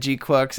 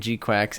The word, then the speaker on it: GQuuuuuuX: Isaac so I don't know I first said g quux and then all the comments a month ago got me saying G quacks and now after actually seeing the film I